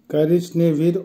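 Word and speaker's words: коричневый: বেলি, বেলির অর্থ হবে সাদা কালার, উচ্চারণ হবে বেলি, বেলি। কারিজ নেভি, কারিজ নেভির অর্থ হবে বাদামি বা ব্রাউন কালার, উচ্চারণ হবে কারিজ নেভি।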